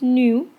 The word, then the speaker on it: nu: Um I know it looks like a V, but it's actually pronounced new.